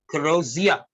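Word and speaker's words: crosier: तो आगे इसे क्रोजिया, इसमें आर साइलेंट है, ये है स्टाफ ऑफ ऑफिस।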